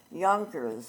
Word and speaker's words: Yonkers: in the upper Hudson Yonkers was also a Dutch and it was filled with a J but pronounced like it was a y and so it was